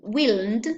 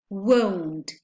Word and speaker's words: won't: So we won't say they willn't, but we say they won't with the diphthong O.